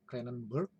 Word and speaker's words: Cranenburg: Nah, menurut Cranenburg ya, tulisannya Cranenburg ya, kita membacanya Cranenburg.